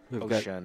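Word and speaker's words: Ouschan: He won with Uskan, Albin Uskan. Ocean is how you would pronounce that.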